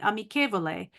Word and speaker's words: amichevole: Amichevole, it's spelled with an H because that's how you pronounce it. Amichevole, friendly.